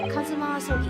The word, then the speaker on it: Kazuma Asogi: It's pronounced Kazuma Asogi.